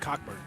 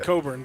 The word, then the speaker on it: Cockburn: you when you realized the name wasn't cockburn i tried not to see it it's called coburn but it definitely today right now it doesn't look like it for sure at all the ck is silent uh-huh everything's everything's silent